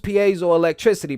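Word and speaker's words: piezoelectricity: 2022 okay it says you've probably used Paso electricity pronounced Paso electricity quite a few times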